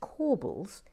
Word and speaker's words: corbels: Blaire is indeed correct that corbels is pronounced corbels but i couldn't bear to